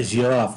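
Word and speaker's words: giraffe: بقى على تو سيلابو، هنا ننطقي على تو سيلابو جي راف جي راف. هنا في الساوند الاولاني في البارت 1 هنا اهوت في الكلمه هنطقها بدون مد جي وبعدين ويك جي وبعدين اعمل بقى ستريس راف راف راف جي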